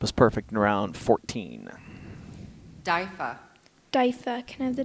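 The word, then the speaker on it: diffa: Daifa. Daifa. Can I have the definition, please? An Arabic reception or banquet. Can I have the language of origin, please? This word is from an Arabic word. Daifa.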